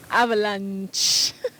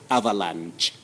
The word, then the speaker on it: avalanche: But remember, in American English, you'll hear of avalanche. So avalanche What's the difference, and avalanche can be used as alternative pronunciations. One ends with the sound sh. The other one ends with the sound ch. So, sh is British pronunciation, that is avalanche.